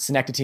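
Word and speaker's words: Synecdoche: malovich adaptation and uh STI I think that's how you pronounce it sencity New York um I've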